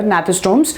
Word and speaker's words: Gnathostomes: Will be or Gnathostomes, that's up to you. G is silent here, Gnathostomes.